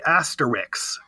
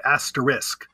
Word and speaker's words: asterisk: gets mispronounced a lot my sister always used to say Asterix rather than asterisk and a lot of